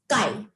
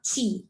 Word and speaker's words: chi: भले हम spelling CHI लिख रहे हैं, बट as this is a Greek letter, it is pronounced as काई, नॉट ची या चाय.